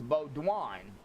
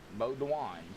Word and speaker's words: Bodwine: Um so it's Bodwine. Kind of like B Wo N. Yeah. Bod Dwine.